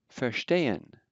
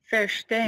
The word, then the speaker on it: verstehen: Verstehen. Verstehen. Even in the middle of the middle of a word where ST occurs, it's still pronounced as if it were SHT.